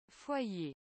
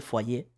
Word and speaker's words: foyer: cómo se pronuncia porque es una palabra rara fire supongo bien el francés esta palabra soy ahí porque esta pronunciación es muy rara francés casa fue allí aunque aquí se pronuncia obviamente fue allí pero interesante es bueno escuchar eso parece ser